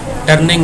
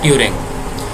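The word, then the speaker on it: Turing: Elon टर्निंग नहीं है। ये एलन ट्यूरिंग है। टी यू आर आई एन जी। ये दरमियान में एक एन जो खत्म कर एलन ट्यूरिंग।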